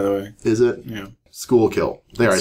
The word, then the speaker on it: Schuylkill: Schuylkill.